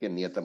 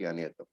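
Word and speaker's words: नियतम्: It should be Narake Niyatam only. It should not be Narake Aniyatam. That avagraha is a mistake over there. Okay. Let me just cancel it in my book also. It is Narake Niyatam, not Aniyatam. All right.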